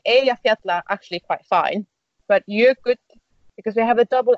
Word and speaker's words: Jökull: Means mountains in plural, and Jökull. Oh yeah, that's good because that's such a difficult pronunciation in the end.